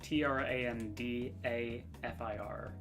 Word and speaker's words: Trandafir: Trendafear. It's Trandafir.